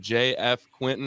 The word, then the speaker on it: JF Quintin: we're going to dive in right here with JF Quinton I believe that's how it's pronounced correct exactly we're g to dive in